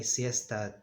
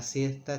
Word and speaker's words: siesta: In Spain, they pronounce it in a sort of a whistle, siesta, siesta, siesta. Those of you who have traveled to Spain may have noticed it. Siesta, siesta. Those are the two sounds.